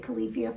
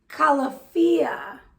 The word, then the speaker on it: Califia: wrong all this time i called it califia farms it's calafia calafia they actually have it on the bottle they tell you how to say it calafia farms um coconut almond